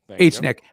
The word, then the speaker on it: HNIC: But I mean, we're entitled to our opinion, just like the HNIC, H-Nick folks. Say it properly. H-Nick.